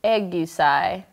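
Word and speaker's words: 애교살: it's a Korean term pronounced egai osai egai egai egai that up this is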